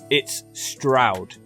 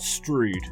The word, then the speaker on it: Stroud: name of this place it's Stroud it rhymes with loud or proud which the locals in this place are certainly not it's not strewed I don't mean to